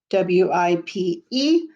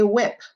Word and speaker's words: wipe: slide it together wipe w-i-p-e make sure you put that e at the end to make the i say its name or it will say whip we want it to say wipe w-i-p-e number nine look